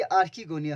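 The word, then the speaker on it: archegonia: ये आर्कीगोनिया हो गया, ये फीमेल वाला हो गया आर्की, ARCHE, आर्की GONIA।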